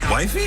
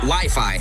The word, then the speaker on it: Wi-Fi: Wifey? It's actually pronounced Wi-Fi, Ralph.